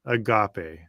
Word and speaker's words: agape: The Bible refers to this kind of love by using the Greek word agape pronounced agape.